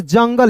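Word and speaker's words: jungle: यहां देखिए जंगल। इसे जंगले नहीं पढ़ेंगे। अंतिम में इ आया तो यहां भी आपको साइलेंट करना है।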